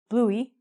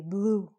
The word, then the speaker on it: blue: So we don't say bluey. We just say blue. So in this, how many syllables are there? How many vowel sounds? 2? 1. So we just say blue. The E is silent.